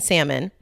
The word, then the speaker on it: salmon: So my friend Lindsley said, I went out with a guy that pronounced the L in salmon, told me he didn't like cheese or Prince, and then asked for a picture of my butt.